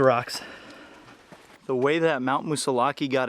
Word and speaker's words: Moosilauke: And to this day, there's still a lot of debate whether it's pronounced Moosilauke or Moosilauke. I prefer to say Moosilauke. I just think it's a lot more fun.